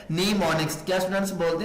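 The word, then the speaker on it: mnemonics: ठीक है, लिखने में आपने क्या स्टूडेंट्स एम को लिखना है, लेकिन पढ़ने में क्या कि आपने एम को साइलेंट कर देना है। आपने आवाज किसकी देनी है, साउंड एन का। लफ्ज क्या बन जाएगा, नीमोनिक्स।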